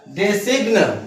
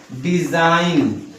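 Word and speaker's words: design: इसका यदि हम शुद्ध अगर प्रोनाउंसिएशन करें, उच्चारण करें तो क्या हो जाएगा? डेसिग्न। क्या हो जाएगा? लेकिन उसका उच्चारण हम क्या बोलते हैं? हम अपने भाषा में जानते हैं, इसको हम बोलते हैं डिजाइन।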